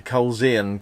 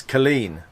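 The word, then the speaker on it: Culzean: for ticket we said well we're going to Cole's Ian's castle because it's CU l z EA n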